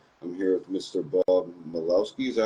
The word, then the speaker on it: Malkowski: Bob Malkowski. Is that how you pronounce it? Yeah, throw the K in there, Malkowski.